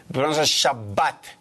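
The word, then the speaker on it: שבת: bet with we call it kak and we pronounce it a little bit differently shabat Shabbat correct okay that's what is about yes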